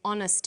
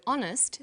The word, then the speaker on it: honest: happy man but an honest man the H is not pronounced so honest sounds like it starts